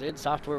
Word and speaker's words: id Software: I mean, people make fun of id Software and ID Software. I pronounce it ID. I apologize. I do know that it's id Software, but I've been pronouncing it ID Software since Doom.